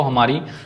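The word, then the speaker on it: hymn: हिम भजन इसमें भी हमारी एन साइलेंट है।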